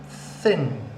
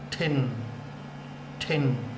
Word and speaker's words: thin: Thin. Thin. Remember TH sound. TH. Thin. Thin. If you put your tongue on the top of your mouth and you blow, you get thin.